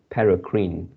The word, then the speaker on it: paracrine: word yeah this is a paracrine and you pronounce as para paracrine okay some of the same growth factors involved